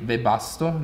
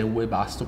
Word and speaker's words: Webasto: se non sbaglio quindi webasto la pronuncia io dicevo all'inglese webasto perché la w è un po come un out all'inizio stavo